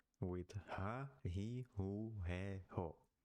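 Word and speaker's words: ふ: Moving to the h with ha, he, hu, he, ho, but the hu is sometimes pronounced as fu.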